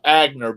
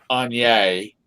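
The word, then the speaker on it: Aigner: She's got we call them Agner bags, but I think they're pronounced Anye.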